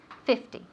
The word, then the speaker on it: fifty: of fifteen fifty right the emphasis the accent falls on the first syllable fifteen either squares fifty fifty so we have 50 times 2 equals 100 or 100.